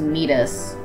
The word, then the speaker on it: Metis: I'll just correct some, if not all, of the mispronounced names. Thea is Thea, Phobos is Phobos, Deimos is Deimos, Metis is Metis, Amaltheia is Amalthea, Thebe is Thebe, Ganymede is